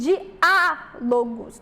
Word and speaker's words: diálogos: palavra aqui paroxítona certo e diálogos nós temos uma palavra proparoxítona então inteligência inteligência aqui a sílaba tônica é a penúltima já em diálogos nós temos aqui a sílaba tônica é a antepenúltima percebam que não estão